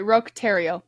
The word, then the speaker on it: Roch Thériault: No, sorry, Roch Thériault.